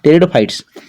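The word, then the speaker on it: Pteridophytes: kingdom मडलेस plant टेरिडोफाइटा पेट नहीं टेरिडो pronounce टेरिडोफाइट्स टेरिडोफाइट्स टेरिडोफाइटा को seedless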